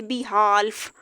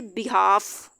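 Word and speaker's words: behalf: आप इसको ये नहीं कह सकते बिहाल्फ, हम इसको पढ़ेंगे बिहाफ।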